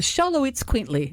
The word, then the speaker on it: Xoloitzcuintli: them this year, and I love the name of it because you have to see it in writing, and then you have to work on memorizing it to say it right. But the Xoloitzcuintli, it's known just as the Xolo.